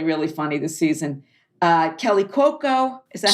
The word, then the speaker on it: Cuoco: Kelly Cuoco. Is that how you pronounce her name?